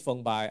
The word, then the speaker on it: Feng Bai: ai okay so again my name is Fung by f ing Bai pronunciations like phone so I'm a data